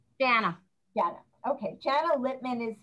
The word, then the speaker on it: Jana: We have Jana, do you pronounce it Jana or Jana? Jana.